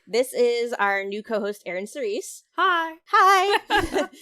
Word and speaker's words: Eryn Cerise: Okay, this is our new co-host, Eryn Cerise.